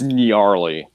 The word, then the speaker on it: Nyarly: Is it Gnarly or Gnarly? It's Gnarly. Gnarly. Gnarly. You wanna spell the pronunciation in the chat for us? Yeah. It's like, you know, Nyarlathotep from, like, Lovecraft.